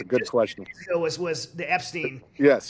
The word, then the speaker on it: Epstein: Was the Epstein? Yes, it rhymes with Schmetzstein.